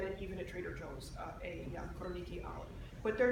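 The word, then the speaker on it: Koroneiki: So it's a single variety, 100% Koroniki. That's spelled K-O-R-O-N-E-I-K-I. That's the easiest Greek olive oil to find in the United States. You can get it even at Trader Joe's, Koroniki olive.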